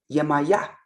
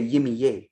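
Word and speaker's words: Yemayá: Yemaya. If somebody says Chango, oh, that's my son that's in the Caribbean. They know by the pronunciation. Nobody say Yimiye. What is that? Yimiye. That's disrespectful. Because if right now somebody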